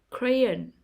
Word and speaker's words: crayon: third syllable exhibition exhibition crayon crayon the stress is on the first syllable crayon microphone microphone the stress